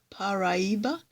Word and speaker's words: Paraiba: probably um me included but I did actually write down uh according to the trailer what it sounds like and uh it sounds like pariba paraiba paraiba it was or something so